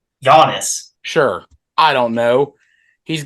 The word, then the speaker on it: Giannis: Durant, all these big, Giannis, all those guys on the same court at the same time. It's obviously cool. What? It's not Giannis. What is it? Giannis.